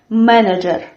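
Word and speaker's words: менеджер: typical to Russian, and we write this word with ye, manager, but we say it with a, manager.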